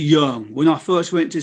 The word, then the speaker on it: Yeung: mali so you know just explain that phonetic correction y-e-u-n-g because it's a cantonese dialect not mine obviously because i'm terrible at the cantonese but yang is the written standard why ing but it's actually young when i first went